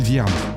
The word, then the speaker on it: Viarmes: ailleurs trouve moi sur Linkedin je m'appelle vierme avec un e comme empereur à la fin et Viarmes ça s'écrit V comme viagra i comme imbroglio e